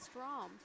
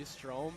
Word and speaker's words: Strome: Now, gotta ask, do you ever get confused saying Strome and Strom? His is spelt a little different. Yep. So I think people always call me Strome, but it is pronounced Strom.